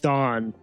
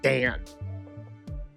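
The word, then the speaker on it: Daan: I keep saying Dawn. I because of the double A. I want to say it that way, but they're actually pronouncing it as like Dan.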